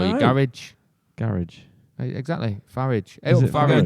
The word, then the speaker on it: Farage: I don't know if he's still a radio presenter, but Nigel Farage, he was on LBC.